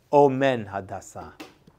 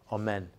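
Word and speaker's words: אֹמֵן: one I see the word amen well it's pronounced a little differently Omen Omen right he took care of Hada he took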